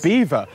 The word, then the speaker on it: Belvoir: Today I'm in Leicester in the Veil of Beaver.